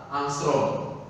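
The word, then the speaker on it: ångström: Nah, ini membacanya adalah angstrom.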